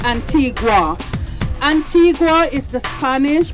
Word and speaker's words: Antigua: whole Columbus thing and in Spanish Antigua means ancient but we were colonized by the British in 1632 so it's pronounced Antigua meet pal a bow